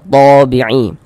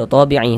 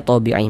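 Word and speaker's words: طبيعي: Karena cara membacanya itu mad thabi'i. Tapi kalau dalam bahasa Indonesia itu dibacanya ee penulisannya tabi'i, tapi bacanya thabi'i.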